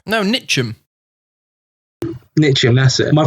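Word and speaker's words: Ntcham: Nachos. No, Nitcham. Nitcham, that's it. My pronunciation isn't the best.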